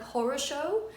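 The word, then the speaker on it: хорошо: like it for example one of the most obvious examples is the use of the word horasho which is the word good in russian however it is spelled in the book as horror show because when you read it obviously in like an english accent it becomes kind of like horosho and it's really freaking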